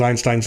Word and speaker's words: Einstein: watching on youtube and every time she pronounces einstein's name she pronounces it einstein because she's german so i've kind of